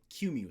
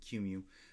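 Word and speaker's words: QEMU: the uh the the q mu set i think that's how you pronounce it cumu so i'm going to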